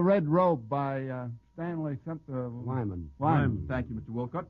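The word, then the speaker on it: Weyman: Wyman.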